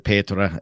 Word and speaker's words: Petra: And again, I'm really excited today because I got to meet Petra, and I'm going to pronounce it Petra as since that is the proper pronunciation, but Petra Schroeder at the Collision Industry Conference back in, was that April?